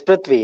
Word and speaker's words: Prithvi: what's the correct pronunciation of your name? I've not been paying attention. Huh? It's Prithvi, yeah.